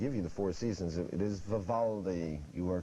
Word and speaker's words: itis: that means quote unquote inflammation of Parkland Keith i t i s correct pronounced itis here's your bonus for 10 points